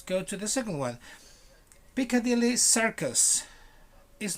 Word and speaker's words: Piccadilly Circus: like like you put your mouth like if you were going to say an e a right a elephant but you said circus circus almost like with a smile almost piccadilly circus if you go to